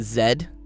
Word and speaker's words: Z: Only the Americans say Z. Even Canadians say zed. Everyone else that speaks English also says zed. So, it's The American, the American Z is the exception, not the rule.